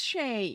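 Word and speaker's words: Chelly: Josh taught me how to pronounce it properly. But I forgot. Where is Mint Gelato when you need him? Shay? It was Shay.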